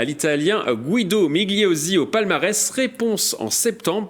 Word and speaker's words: Migliozzi: Migliozzi, Migliozzi. Le G et le L, on va dire qu'on les fusionne, voilà, pour la prononciation italienne.